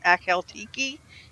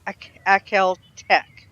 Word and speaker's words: Akhal-Teke: way is right because I've heard them pronounce it alt key and i cal tech check something like that I call it a coyote key so but I guess